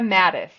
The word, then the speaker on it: Mattes: wave and tell us what it is shaa Mattis I love that and shaa is a sematic